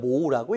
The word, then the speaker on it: mho: 그렇다면은 이 옴을 뒤집게 되면 MHO라고 하니까 모으다라고 읽게 되는 겁니다. 그래서 우리가 저항의 단위를 뒤집어서 그리면 모우라고 읽고, 또는 S라고 해서 지멘스다라고 불러주고 있습니다.